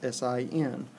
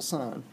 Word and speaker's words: sine: is SI unique but they abbreviate it as si n that's not pronounced sin it's still sine cosine is abbreviated as